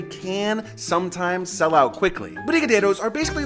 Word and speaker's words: brigadeiro: typical candy bar, you have to try a brigadeiro. Why did I say it like that? Brigadeiro.